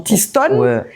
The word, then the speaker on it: T-Stone: soit en mode international j'ai retiré le i mais ça garde la même prononciation qu'en créole ah c'est sympa c'est marrant